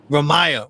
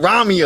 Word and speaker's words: Ramiah: your name wrong again please say it for me Ram Maya see I keep saying Ramia I don't know I'm